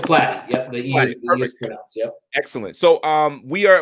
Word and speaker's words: Platte: how that happened totally is it plotty or plaque it's flat excellent so um we